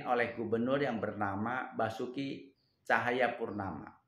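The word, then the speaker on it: Tjahaja Purnama: 2016 itu Jakarta dipimpin oleh gubernur yang bernama Basuki Cahayapurnama atau BTP. Pakai ejaan lama ya. Cahayanya TJ.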